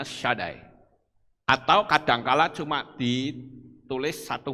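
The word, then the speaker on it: שדי: Shaddai, kalau saudara lihat di Mezuzah, itu ada tulisan Sin Dalet Yod, itu membacanya Shaddai.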